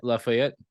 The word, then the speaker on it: Lafayette: Is that how you pronounce it? Lafayette.